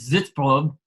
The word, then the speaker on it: Sitzprobe: probe sits from which if you were to use the correct German pronunciation I believe would be this probe it actually it just